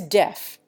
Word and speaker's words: deaf: Finally, there is deaf. Its proper pronunciation in the England that the colonists left was deef, but it now rhymes with Jeff.